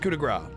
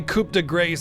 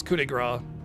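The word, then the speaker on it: coup de grâce: It's pronounced coup de grace. Well, I say coup de grace as a joke sometimes because that the spelling, but it's coup de grace.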